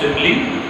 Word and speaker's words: simile: Yes, this is pronounced simile, the sister of imli.